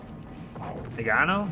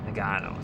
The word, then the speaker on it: Nagano: Like oregano, but not in any way. I can't even say it like that. Nagano, so I was right the first time.